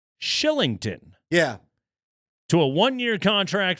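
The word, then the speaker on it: Kylington: help with that uh how how do we get that pronunciation from that spelling I don't know but uh shout out to to our friends at Avalanche PR Who provided us a pronunciation Shillington yeah to a one-year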